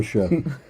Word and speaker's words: Saoirse: saoirse sort Sorcha yeah it's like Siobhan yeah so sure Ronan in Brooklyn was like